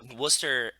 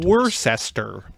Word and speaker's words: Worcester: where you're from because it's spelled goofy so you only know that it's called Worcester if you ever been Worchester for anybody that doesn't know about Massachusetts it's spelled like Worchester but it's called Worcester as in w s t r that's how you yeah